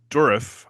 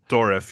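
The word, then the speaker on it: Dourif: Brad Dorf, I think is how you say his last name. Dorif. Yeah, Dorif.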